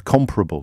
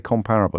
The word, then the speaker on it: comparable: Comparable, not comparable. I always say comparable. Apparently it's supposed to be comparable.